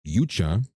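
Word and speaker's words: Youchah: by the name of Elena Yucha, which is spelled the most insane way possible. It is literally E L A Y N A and then her last name is Y O U C H A H.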